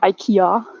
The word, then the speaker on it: IKEA: Of course, everybody in Karlsruhe knows that there's IKEA, or IKEA, to pronounce it properly.